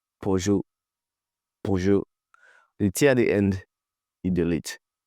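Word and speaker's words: Peugeot: Some say I don't know pijot.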